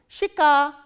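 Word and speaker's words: щека: Shika, shika. Again we follow the rule of reduction here. This ye sound is pronounced as e, shika.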